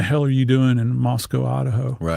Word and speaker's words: Moscow: you have to pronounce Moscow, not Moscow. They take exception to that. So, you have to think Costco, so Moscow.